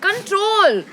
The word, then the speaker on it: CTRL: movie is called CTRL. Control. But it's spelled like CTRL, but it's called Control.